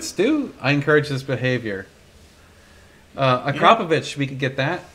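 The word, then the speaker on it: Akrapovič: Akrapovich, yeah. We could get that. Remus, I'll have to double check, but for sure, what? It's Akrapovich, isn't it? Not Aprokrovich, whatever.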